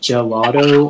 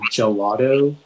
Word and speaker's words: gelato: the information yeah so it can be pronounced gelato or gelato it's a noun and